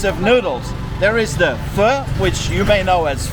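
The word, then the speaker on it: phở: is two types of noodles there is the F which you may know as fo but it's actually pronounced F which is literally like one big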